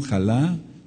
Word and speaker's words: jalá: por del verso 21 jalá J a L A con acento en la a es la Primicia de